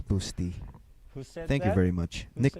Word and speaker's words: Busta: city there you go so nick patrick it's pronounced like busty by the way so it's boosty yeah because busty really sounds somehow it's different busty is different so it's boosty thank you very much nick patrick thanks a